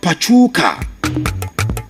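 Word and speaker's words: Pachuca: The club is simply called Puka. Pachuka from Conquer CF zone. Conquer CF. So Puka, that's how it is called.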